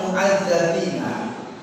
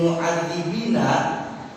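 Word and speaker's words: معذَّبين: Contohnya, kalimat mu'adzabina, tapi ketika terpreset membacanya jadi mu'adzibina, itu sudah beda arti.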